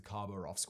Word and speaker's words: Khabarovsk: and instigated their own trials known as the khabarovsk war crimes trial okay so that's how you pronounce that i wasn't sure how to pronounce